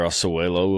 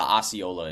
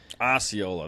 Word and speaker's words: Osceola: Was that the Oswego, or I don't know how to pronounce it, and I still am missing the Eastern. Go ahead. Oh, it's the Osceola in Florida. Osceola, that's what it is.